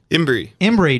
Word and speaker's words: Imbrey: Imbrey.